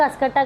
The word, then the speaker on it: Cuscuta: तो एक कसकटा का नाम याद रखिएगा, कसकटा, ये है स्पेलिंग CUSCUTA, कसकटा।